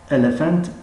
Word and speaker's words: elephant: elephant elephant elephant p با همراهی h تلفظی ف را دارد. در درس های آینده انشاءالله این موضوع را خواهیم گذاشت. elephant فیل.